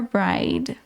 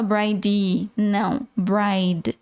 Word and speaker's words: bride: is gonna be your bride e não sei se você percebeu a gente não pronuncia se é no final de bride a gente não fala brainly termina na letra D E se eu fosse